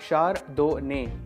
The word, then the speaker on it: Chardonnay: सो हाउ इट is pronounced, I will tell you that as well. So इट इज़ अ शार्डोने। हाउ डू you pronounce it? शार्डोने, शार्डोने, शार्डोने।